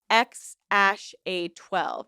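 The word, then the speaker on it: X Æ A-12: symbol to AE and Musk said that it's pronounced X aash A12 X a12 X a12 though the child is reportedly just nicknamed effects like everything else in Musk's life.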